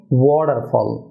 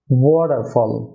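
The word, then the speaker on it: waterfall: Syllable হয়ে থাকে, তাহলে ওই টি এর উচ্চারণটা হয় ডি, সুতরাং ওয়াটারফল, ওয়াটারফল।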